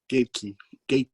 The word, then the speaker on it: Gaethje: How do you pronounce his name, please? You're more the UFC guy. Gaethje. Okay. Gaethje.